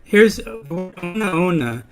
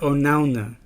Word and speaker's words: onaona: Now here's ona ona is a great word because when you say ona ona, it's 4 syllables. But you can also pronounce it onauna when it's only 3 syllables. So depending on what you need for the song, you might sing that word onauna or onaona. And both of them are correct.